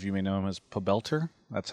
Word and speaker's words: Pobelter: Park some of you may know him as pelter that's how he's pronounced whenever there's a cast by Kobe pelter